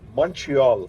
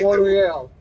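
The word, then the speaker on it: Montréal: do you say it Montreal no you don't say it like that no you don't monreal it's like monoral like what the come on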